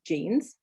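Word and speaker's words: Jeans: almost always a yeah some words that have come from like english or french um the j is pronounced like the english so the word for genes is genes genes um and jogging in german is john joggin um other than that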